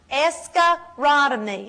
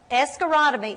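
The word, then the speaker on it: escharotomy: to relieve the pressure escarotomy I'll spell it escarotomy e s c h a r o t o m y now in a minute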